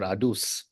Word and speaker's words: ADUS: So, Patrick, before we talk about, and I'm not sure how you pronounce, is it ADUS or ADUS?